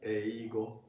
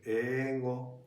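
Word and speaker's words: 英語: But actually, it's not pronounced as eigo. Uh-huh. Instead, it's pronounced like ego.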